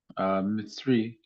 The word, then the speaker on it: Mitzri: And the Egyptians, Mitzri is the way that's pronounced when you pluralize Egyptians. It's Mitzri.